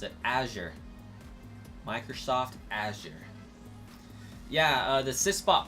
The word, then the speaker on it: Azure: Azure. That's how I'm supposed to pronounce it. Azure.